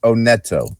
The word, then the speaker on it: Oneto: He told me Oneto. Oneto. He tells me later on, hey, pronounce my name right. It's Oneto.